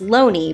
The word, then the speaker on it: Looney: In 1920, John Thomas Looney (rhymes with “bony”, I will not be